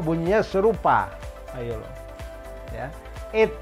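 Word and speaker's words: été: Ayo lo ya, et kayak kita nyebut sate tempe tape.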